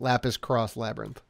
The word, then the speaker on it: Lapis X Labyrinth: Lapis X Labyrinth, or Cross, I think is how you would pronounce that. Lapis Cross Labyrinth.